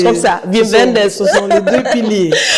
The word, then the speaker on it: Wim Wenders: Je pense que c'est bon, oui, ça se prononce comme ça. Wim Wenders.